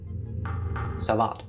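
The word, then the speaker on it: Savate: The E is silent, so Savat? Is the T silent too? No. Savat.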